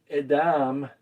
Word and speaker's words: Edom: Adam is how you actually say this. Edom is how you say this one here.